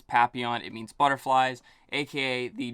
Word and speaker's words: Papillon: the other flavor papillon it's not papillion even though that's how it's spelled uh it is pronounced papillon if you search on